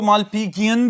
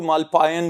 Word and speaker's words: Malpighian: जी students, इनको मालपीजियन भी बोलते हैं, मालपीजियन भी, और इवन के कुछ प्रोनाउंसिएशंस ऐसी भी हैं जिनमें इनको मालपायन भी बोला जाता है, लेकिन सस्पेंडेड ट्यूब्यूल्स हैं, आसान तरीके से याद रखें।